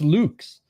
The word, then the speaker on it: Lux: It's not pronounced as Lux. I pronounced it as Lux for the longest time, Nelson, and that's wrong. It's pronounced Luke's.